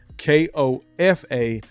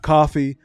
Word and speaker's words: Kofa: Kofa, not coffee, not, not Kofi, or any variation thereof. Kofa rhymes with sofa.